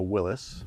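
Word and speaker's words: Willys: oh the Willies well how do you say it what I I say Willies and I cuz I always have since I was right I know it's technically a Willis but who calls a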